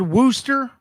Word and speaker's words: Worcester: said I said Wooster I said Wooster like uh Wu-Tang Clan followed by stir I forgot that they